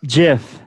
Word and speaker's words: GIF: had this discussion before it is properly pronounced jiff all right you put